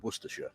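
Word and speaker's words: Worcestershire: between three counties, those being Warikshire, Staferture, and Worersha. And yes, for any Americans watching, that is how you pronounce those place names.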